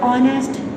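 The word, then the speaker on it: honest: एच इज़ not pronounced at the beginning of many words, कुछ ऐसे words हैं जिनके शुरू में भी जो एच है वो साइलेंट हो जाता है। आवर में अगर आप बोलते हो ओ की साउंड आती है, आवर, ऑनेस्ट, ऑनर, एयर, अर्थ, तो इसमें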